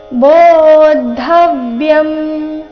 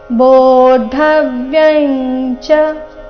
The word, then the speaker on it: ಬೋಧವ್ಯಂ: ಣ ಮೇಲೆ ಆಘಾತ ಗಮನಿಸಿ ಕರ್ಮಣಶ್ಚ ಬೋಧವ್ಯಂ ಅನುಸ್ವಾರದ ಉಚ್ಚಾರಣೆ ಇಲ್ಲಿ ಕ ವರ್ಗದ ಅನುನಾಸಿಕ ಗ ರೀತಿ ಯಾಕಂದ್ರೆ ಮುಂದಿನ ಶಬ್ದ ಗಹನ ಅಂತ ಬಂದಿದೆ ಗ ದಿಂದ ಪ್ರಾರಂಭ ಆಗ್ತಾ ಇದೆ ಕ ಖ ಗ ಘ ಈ ವರ್ಗದ ಅನುನಾಸಿಕ ಗ ಆದಕಾರಣ ಬೋಧವ್ಯಂ ಗಹನ ಕರ್ಮಣೋ ಗತಿಹಿ ಕೊನೆಯ ಚರಣದಲ್ಲಿ ಎಲ್ಲಿಯೂ